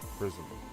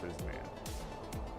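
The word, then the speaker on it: Frizzmmm: It's Prism. F-R-I-Z-Z-M-M-M. 2 Z's, 3 M's, no A, no N. Prism, not Prisman.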